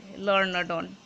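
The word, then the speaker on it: Lorna Doone: আচ্ছা বেশ, এই জায়গাটা দেখো একটু, এল ও নয়, এটা এল এ হবে, ওকে, লার্না ডন বা ডান এরকম উচ্চারণ, যেমন জন ডান সেই রকমই।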